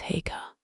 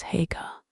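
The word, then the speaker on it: Haigha: His name is Hagga. He pronounced it so as to rhyme with mayor.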